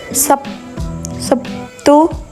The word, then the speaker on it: Sabtu: Sebagai contoh, kata Sabtu dalam bahasa Indonesia lazim diucapkan Sabtu, yakni terlihat adanya bunyi B yang berubah menjadi P sebagai akibat pengaruh bunyi T.